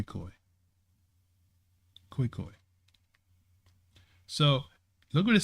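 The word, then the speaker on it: Khoikhoi: Did I say it right? Cocoy Kokoy or is it Koi Koi? Koi Koi.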